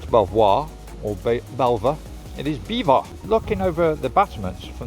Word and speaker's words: Belvoir: the crown so overall beaver castle has been used as a royal resident location on several films through the past although written as belvoir it is pronounced as beaver which means beautiful view